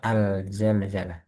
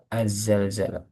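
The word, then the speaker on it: Az-Zalzalah: Ee di sini jelas tasdid karena ada beberapa yang membaca alzalzalah yang benar azzalzalah al bertemu zai asyamsiyah nam kita mulai dari taawud.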